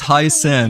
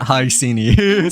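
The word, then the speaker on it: Hyacine: Okay, so she's pronounced as Hyasen, not Hyeni.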